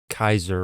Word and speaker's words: Caesar: For example, you know, with names like Caesar or Kaiser, if you were to pronounce that the way that the Romans would have said it at the time, they'd be saying Kaiser or Kazer or something like that. Caesar is a modern English pronunciation for you know the the Julius Caesar would be Julius Kaiser or something along those lines.